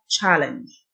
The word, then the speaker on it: challenge: تحدي أو يتحدى challenge، C-H تنطق ش، challenge.